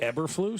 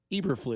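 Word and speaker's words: Eberflus: uh is it really ever flu no that's what Cody told him like three straight times and like Ross Tucker was like actually it's Eber flu eflu I thought maybe we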